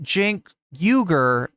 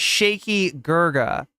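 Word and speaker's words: Cenk Uygur: couldn't he couldn't say you know how people mispronounce Jin's name this fascist dweeb pronounced Jin yuger as shaky GGA right so that's where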